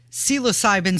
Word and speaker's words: psilocybin: can Now consume psychedelics it's America's first licensed psilocybin service center yes and uh magic mushrooms when